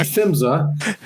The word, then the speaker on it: PHMSA: It's pronounced FIMSA, which but but we often get confused with the Federal Motor Carrier Safety Administration.